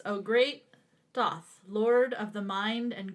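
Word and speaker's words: Thoth: overview okay okay so the first one is doth I think is how you pronounce that it's uh spelled t-h-o-t-h so this is uh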